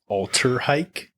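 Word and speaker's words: Alltrhike: Uh they've got a model they pronounced the Alterhike.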